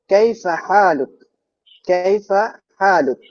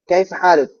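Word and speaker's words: كيف حالك: এমন না এটা হচ্ছে এখানে হা আছে ভিতর থেকে উচ্চারণ করতে হবে যখন আমরা আরবদের সাথে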